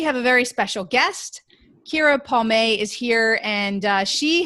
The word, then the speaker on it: Keara: It's Keara, actually, like Shakira the singer without the sh.